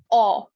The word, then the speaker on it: 어: This is aw. Aw. You have to open your mouth a little bit wider. It's not o, it's aw.